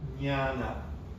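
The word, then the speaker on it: jñāna: It's actually a different N to the regular N in the Pali and the Sanskrit. There are slightly different ways to pronounce the N. Anyway, so jnana is the actual word.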